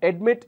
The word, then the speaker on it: admit: that becomes admitted admitted admit is two syllable admit when I add an ed it becomes three syllables admit ends with a consonant and follows a wall accented on the last syllable therefore the double uh